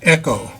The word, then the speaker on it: IKKO: Like I say, it looks like Eco, but it's actually pronounced Echo.